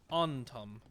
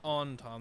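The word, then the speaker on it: Antaam: how to save it say it correctly onom the onom not the on time like the onom I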